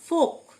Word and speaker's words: folk: ফোক, FOLK, ফোক, এল silent, মানে লোকজন।